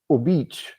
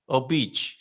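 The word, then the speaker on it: Óbidos: Well, Obidos. But no, Obic. Obic.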